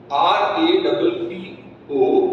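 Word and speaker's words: rapport: patient that will build r r a p o r RT is silent rapo rap not rap is rap rap trust Mutual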